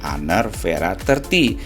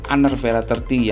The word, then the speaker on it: Honor V30: This is an Honor V30 But the letter V is pronounced as Vera... It is pronounced as Honor Vera 30 Why it is "Vera"?